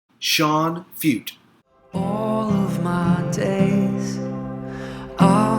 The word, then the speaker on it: Feucht: I'm going to say it that way because I think the CT is silent. Feucht.